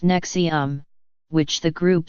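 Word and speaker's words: NXIVM: have enrolled in courses offered by as if pronounced nexium which the group says are designed to bring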